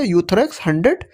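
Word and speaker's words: Euthrox: आती है यूथरेक्स 100 दोस्तों इसमें जो ई होता है वो साइलेंट होता है तो हम यहां से पढ़ेंगे यूथरेक्स 100 इस तरह की पैकेजिंग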